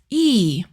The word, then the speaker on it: ㅣ: Next one is E. Write E with one line going from top to bottom. Your mouth is a bit open and your tongue touches just behind your lower front teeth.